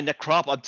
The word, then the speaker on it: Necropolis: Is it Necropolis? Yeah, Necropolis. Think of Metropolis.